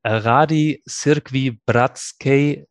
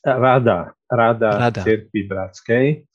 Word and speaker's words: Rada Církví Bratskej: Ján Henžel, you are General Secretary of the Rady Církví Bratskej, our partner church covenant in Slovakia. Tell us a little bit about your church covenant, and if I pronounced it right. Almost. It's Rada Církví Bratskej.